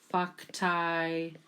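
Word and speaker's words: factae: now we're going to the ae ending again pronounced i so we have fucktai eramos and we had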